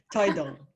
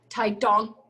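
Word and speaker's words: 台東: So my mom would be from a place called Taidong. You have to say it like that. Okay. Taidong. No, it's more emphasis on the D. Taidong.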